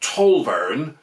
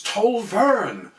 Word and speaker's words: Tolverne: pronunciation no it's not tolveren all the gruckles say it like that she complained it's toll vern with the stress on the second syllable some people say that